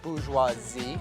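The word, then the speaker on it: bourgeoisie: government of the stem Pete I believe it's pronounced booze huazi you can run back to society to give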